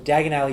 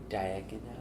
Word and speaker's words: Diagon Alley: Diagon Alley? Dagon Alley? It's spelled like diagonally, and it fucked me in the head when I found that out about 2 weeks ago that that's just what it was.